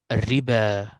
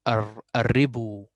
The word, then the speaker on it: الربا: الربا. So here this alif have a circle, so this is silent letter. And then I will not say الربو. I will say الربا.